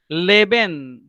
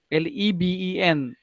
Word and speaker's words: leben: Leben means live.